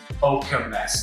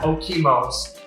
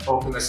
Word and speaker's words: Okemos: I'm going to repeat it again of how to pronounce the city. It's Okemos, not Okemos, but Okemos is how you pronounce it.